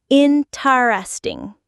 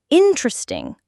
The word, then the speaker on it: interesting: I would see a word on the page like interesting and realize that people don't say interesting with four syllables. They say interesting with three syllables.